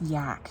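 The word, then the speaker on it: Yahk: get cold this is amazing this is the yak River I guess you pronounce it oh yeah y-a-h-k there's one only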